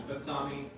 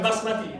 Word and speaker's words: basmati: Batsami. Yeah. I don't know if I'm saying that right. Batsami. It's a very long grain rice. It's a long- Yeah, basmati. Basmati. I didn't say it right.